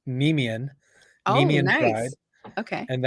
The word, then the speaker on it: Nemean: So it's Nemean, Oh, Nemean Pride, nice. Okay. and that's the name of the lion in Greek mythology, the Nemean lion.